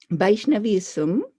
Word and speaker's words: Vaishnavism: So Vaishnavism, with V as victory, follows Krishna.